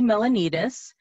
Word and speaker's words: Melonides: might be a little intimidating um i'm milanitis and i'm a specialist for rotary service and